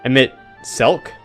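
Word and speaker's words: Emet-Selch: I forgot his name the CH is pronounced like a c emit selk so emit selk so they must know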